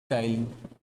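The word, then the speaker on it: ptyalin: लोग कहते हैं टाइलिन, पी साइलेंट है टाइलिन।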